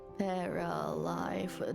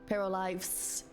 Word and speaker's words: Paralives: Dredge, and we have Paralife. Do I say it correctly? Paralives with an S.